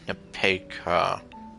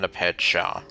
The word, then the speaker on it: Nepeka: I'm so sorry, I keep mispronouncing her name. Nepeka. Not Nepetja.